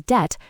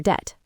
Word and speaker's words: debt: Then scholars linked it back to a Latin word with a B like debum and they put the silent B into the spelling. Exactly right. The pronunciation was always debt, but the spelling was changed to show its Latin roots.